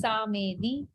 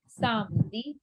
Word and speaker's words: samedi: Many people pronounce it as Samedi. It's not Samedi. Samdi.